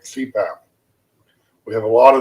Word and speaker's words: CPAP: of heart or cardiologist acronyms abbreviations made up of initials that can be pronounced as a word like cpath continuous positive